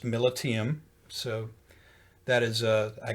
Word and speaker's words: Militiam: name and it was confirmed and it is pronounced militium so that is uh i got that from